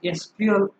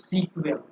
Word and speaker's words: SQL: तो इट is pronounce as एसक्यूएल और sometimes सीक्वेल।